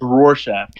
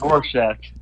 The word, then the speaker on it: Rorschach: It's Rorschach. Rorschach? Fuck, I don't care pronunciations. It's Rorschach.